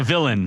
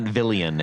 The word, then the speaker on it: villain: Like a villain. It's not Villian. Yeah. It's Villain. Valentinos.